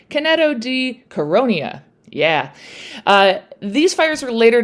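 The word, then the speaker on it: Canneto di Caronia: at that time in this Italian village called Caneto di Cariona. Nope. I'm not even going to bother to erase that, and I'll just try it again, and you'll all live with my mispronunciation. Caneto di Caronia.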